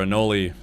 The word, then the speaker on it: anole: Yeah, it's a brown anole or anole, depending on how you pronounce it.